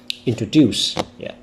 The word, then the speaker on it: introduce: word in stressing because a lot of students speak this word without stressing any syllable. Introducing, introduce, introduce. So there's no stress. So an advice I usually give my students is that you should read the word with a stronger stress on the third syllable.